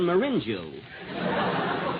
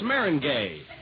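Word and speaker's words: meringue: famous for my lemon marinu marinu well that's Maring gay Mar oh is that the way it's pronounced oh see you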